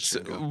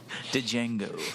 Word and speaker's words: Django: This is Django. But why do you want that It's redone? kind of like your sex life. The D is silent.